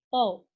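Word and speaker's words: τ: Nah, lambangnya itu adalah seperti ini, atau dibacanya tau.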